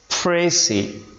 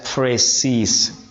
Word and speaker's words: précis: as well as plural when it is singular it is pronounced as pry when it is plural it is pronounced as pris what is meant by